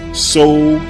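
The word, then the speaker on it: Soudan: However, the antiquity spelling was S-O-U-D-A-N, So-U-Dan, which is simply 2 words combined into one, So-U-Dan. Now, let's use Google Translate to look up the meaning of the words So-U-Dan.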